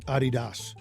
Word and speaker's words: Adidas: Adidas. Thank you, Bob. You're supposed to emphasize the first syllable.